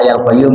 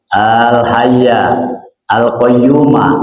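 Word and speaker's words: الحي القيوم: Saya baca hayyul qayyum karena pelajaran yang kita dapat di guru sama guru bacanya fathah. Ya, karena ngikut naat kepada yang sebelumnya. Astagfirullah al-azima al-hayya al-qayyuma, begitu bacanya. Ya, aslinya begitu. Astagfirullah al-azim al-hayya al-qayyum alladzi la ilaha illa huwa, begitu kalau di gramatika bahasa Arab. Ya, bukan berarti yang hayyul qayyum salah.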